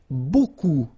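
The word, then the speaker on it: beaucoup: strange Buu like that remember you don't pronounce the final P okay and then you get this combination of vowels a and you get the sound o so technically it's B okay so it's not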